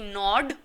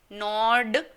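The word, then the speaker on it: Nord: फिर आ जाता है नॉर्थ यानी कि नॉर्ड। नॉर्ड, डी है हमारा ड, नॉर्ड, ओके।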